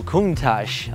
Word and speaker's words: Countach: Oh, Countach.